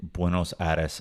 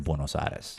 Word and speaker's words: Buenos Aires: European Vibes here in Buenos Aris I noticed how you're pronouncing buenos Aris in the US we always say Buenos AAS right but when you were in Argentina people are saying it that way of course yes and